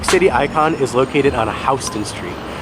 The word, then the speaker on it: Houston: icon is located on Hon Street it looks like it's pronounced Houston but it's actually H it's really confusing